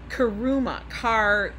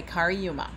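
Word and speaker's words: Cariuma: But then when I got to the site, now these are called Kariuma. It's spelled C-A-R-I-U-M-A. I'm not going to stop my life. Okay, that's what they're called. Okay, Kariuma.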